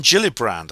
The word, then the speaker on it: Gillibrand: the get the Gilly brand Amendment it's Kirsten Gilly brand the reason I always pronounce Kirsten gillibrand's name Kirsten gillibrand is I'm